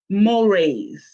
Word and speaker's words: mores: It looks like Moors, but it's pronounced Mores.